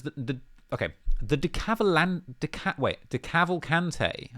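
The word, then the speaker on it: DeCavalcante: okay the decathlon way de cavalcante I've been saying it wrong all these years the de cavalcante crime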